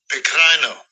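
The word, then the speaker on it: πικραίνω: The word bitter in that verse, the Greek word, let Esau pronounce it. Strong's G 4087, Pecrino.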